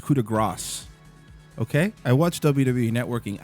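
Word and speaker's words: coup de grâce: And by the way, Corey, you're saying it wrong. It's coup de grace.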